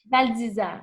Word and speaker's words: Val d'Isère: de comprendre c'est quoi il faut que je prononce bien, c'est Val d'Isère? Val d'Isère, oui.